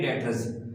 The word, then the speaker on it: debtors: Then after students sundry डेटर्स। Sundry का मतलब तमाम, डेटर्स, डेटर्स स्टूडेंट्स इसमें बी साइलेंट है।